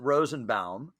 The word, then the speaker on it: Rosenbaum: all just so we have this i you pronounce it rosenbaum but i hear rosen bomb and so just once and for all because